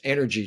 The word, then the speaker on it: Enyrgy: So, it's energy just spelled with a Y instead of that second E.